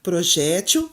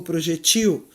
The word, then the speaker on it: projétil: Hieroglifo ou hieróglifo, Oceânia ou Oceania, acrobata ou acróbata, projétil ou projetil, eletrodo ou elétrodo.